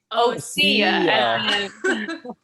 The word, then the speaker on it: OSSIA: group guest is ocea how do you guys pronounce it oh see ya okay because i want to i say ossia am i wrong are we certainly wrong